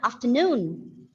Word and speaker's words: afternoon: afternoon do you remember which is a syllable to be stressed in the word afternoon is the second syllable okay sorry third syllable because this word has got three syllables after noon so yes because this is very important as you always keep wishing the teachers right good afternoon so the noon should be stressed not good afternoon whereas in the case